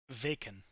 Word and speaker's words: Vaken: Vaken. Bacon. Rhymes with bacon. It does. I think I did this subconsciously, but it's the town in South Carolina with a V at the beginning is how it's spelled. There's just a town with a V in the beginning. No. There's a town called Aiken, and it's V Aiken.